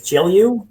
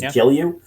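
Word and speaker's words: Gelu: question like relating to how is the correct pronunciation of the It's It's G'elliu. G'elliu? Well, that's how we always did it. It was G'elliu.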